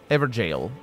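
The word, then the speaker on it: Evergaol: here for lorne hound evergal ever jail ever jail i believe is pronounced uh praise the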